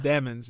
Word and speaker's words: Demons: His last name is Demons. It's pronounced Demons, but still.